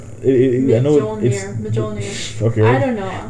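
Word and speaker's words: Mjölnir: It's Mjolnir. Mjolnir. Okay. I don't know. The J is silent. That's what I remember. Everyone pronounces it. The IGN review for God of War didn't pronounce it like Mjolnir or something like that.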